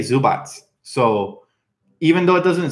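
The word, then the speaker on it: Zubac: question good question but I've actually heard people from Croatia say zu BOTS so even though it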